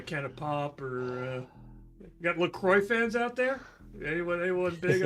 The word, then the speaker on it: LaCroix: Actually, if you go to their website, Marin will say, it says that they want it to be pronounced LaCroix because See? that's where it's made.